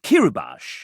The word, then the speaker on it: Kirubash: This one, Evan wrote the note Kirubash is pronounced Ki-ru-bash.